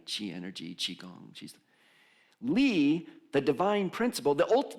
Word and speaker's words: Li: I think you would pronounce it Lee if someone knows better.